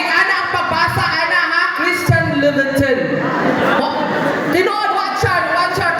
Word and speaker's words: Christian Louboutin: Christian Louboutin. Tinood, watch out. Ganun ang pagbasa at pag-pronounce, ana.